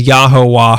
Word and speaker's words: Yahuwah: baba booey other religions have claimed it's pronounced Yahweh or Jehovah as in Jehovah's Witness but in February 1974 father Yod claimed he had cracked the code and that he had found the true pronunciation and that was yahuwah ho the true name of God he claimed to mint